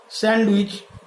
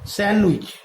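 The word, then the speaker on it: sandwich: আবার স্যান্ডউইচ, এখানে কি হবে, স্যান্ডউইচ, স্যান্ডউইচ মানে পুরোযুক্ত রুটি, স্যান্ডউইচ, অর্থাৎ এখানে ডি এর উচ্চারণ কিন্তু হচ্ছে না।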